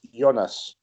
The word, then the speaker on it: Jonas: Okay, Kierkos, the second name, you know how to pronounce it. It's German. It's Jonas.